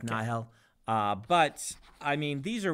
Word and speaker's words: Nahel: And how do you say, Nahel or Nile? Because I think I've heard both in the books. Yes. Or audiobooks. I've always said Nahel. Nahel. With just a bit of an H, like Nahel.